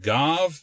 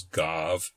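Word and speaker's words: גו: the other meaning back, which may be pronounced as gav or ga.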